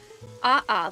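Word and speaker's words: ʻaʻā: And then the other type of lava again giving a pronunciation. Love that. Aha lava.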